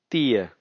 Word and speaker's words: tio: 10, which is written as tio, we say tia.